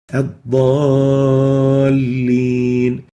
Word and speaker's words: الضالين: Here, that alif, when we pronounce it, we lengthen it more than natural, beyond the natural level of lengthening that we had in إياك. Let's listen. الضالين.